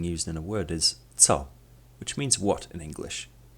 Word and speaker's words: co: The letter C in the Polish language is pronounced as t, which sounds like the letters T and S in the word cats.